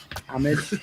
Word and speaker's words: homage: Yeah, the correct way of saying it is actually a French way of saying it, and it's homage, Homage.